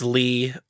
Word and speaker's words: Leigh: directed by, I think his name is Lee, but when you spell it, Leigh. That's Lee. It's Lee.